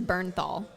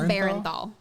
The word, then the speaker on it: Bernthal: His name is Bernthal, not Barenthal. I was like, why are they putting an extra syllable?